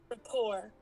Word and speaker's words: rapport: me see if you can hear that yeah Rapport Rapport why did I want to say why